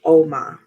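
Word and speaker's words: Ogma: oh except for noi it's pronounced om is the Celtic Warrior um a bit like OMS right so um is the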